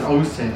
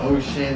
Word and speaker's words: Osin: Well, my name is Osen, you know, but a lot of people get a mistake to ocean and all that stuff. Oen, but it's Osen, you know. So, it's pronounced O S I N, you know.